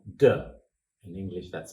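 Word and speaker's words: 德: This principle is called De. In English, that's spelled D-E, De.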